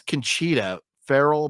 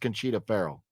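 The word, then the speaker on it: Conchata Ferrell: I thought it's Conchita Farrell, but it's spelled like Conchata, but I thought it's pronounced Conchita Farrell.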